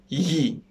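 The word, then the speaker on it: gli: now for the plurals the article is ye the pronunciation is yi i had problems on pronouncing this myself um the way you can pronounce it very easily is that make your tongue very very very close to the top of your mouth and then push the air so the air would get stuck between your tongue and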